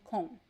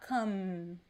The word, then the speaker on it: com: con so remember that the letter m in portuguese when it is placed at the end of words the m does not sound like a regular m we don't touch the lips to pronounce it is not come no it is it sounds a little bit like as if it were something like this more or less okay there is no m sound there is like a